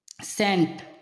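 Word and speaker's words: scent: साइलेंट होता है जैसे सेंट सेंट सेंट का होता है इत्र साइंस साइंस का होता है विज्ञान याद रखना एस के बाद में सी आए तो सी साइलेंट होता है जी के पहले आया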